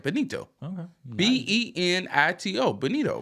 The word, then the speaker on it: Benito: Sam Bennett Tito Benito I said it right Benito okay b-e-n-i-t-o Benito right San Benito yeah San